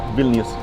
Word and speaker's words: Vilnius: Yeah, Vilnius.